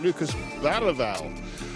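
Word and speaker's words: Bergvall: the man we call Lucas Bergville and I'm very reliably told by local journalists that if you're going to pronounce it in the Swedish way, you pronounce it Lucas Val.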